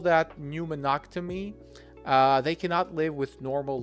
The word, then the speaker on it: pneumonectomy: We call it pneumectomy. Pneumectomy. Is that correct, Jada? Please correct my pronunciation. Pneumonia. Pneumonia is the inflammation of the lungs. So it's pneumonectomy. It's gonna be pneumonectomy.